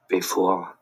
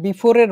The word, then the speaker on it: bevor: Before. Before. Before. Before. ঠিক আছে, এটা ইংরেজির বিফোরের মতোই, ইংরেজির বিফোরের মতোই, কিন্তু ডয়েসে হচ্ছে ভিটাকে কিছুটা এফ এর মতো উচ্চারণ করা হয়, কিন্তু এই বলে ইংরেজির মতো একদম হুবহু বিফোর হবে না।